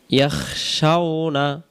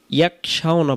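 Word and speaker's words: يَخْشَوْنَ: আমরা অনেকেই খেয়াল করি এটাকে আমরা অনেকেই ইয়াকশাউনা পড়ে ফেলি। যদি আমরা এখানে ইয়াকশাউনা উচ্চারণ করি তাহলে এই খ অক্ষরটা কাব অক্ষরে রূপান্তরিত হয়, কারণ ইয়া খ জবর ইয়াখ আর ইয়া কাব জবর ইয়াক। তাহলে আমরা এখানে খয়ের মতো ভেঙে উচ্চারণ হবে ইয়াখ।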